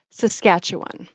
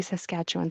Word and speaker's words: Saskatchewan: So it's pronounced Saskatchewan. So we don't really say well, we do say Saskatchewan sometimes, but Saskatchewan, Saskatchewan.